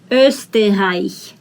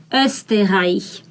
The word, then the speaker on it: Österreich: This is O umlaut. That means it's not O, it's Österreich, Österreich.